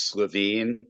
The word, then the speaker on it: Levine: today I'm okay and just so we're consistent it's slavine people pronounce my name differently depending on their preferences their tastes but um yeah I'm